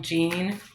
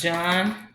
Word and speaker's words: Jean: Okay, he said you guys call him Gene, but it's Jean.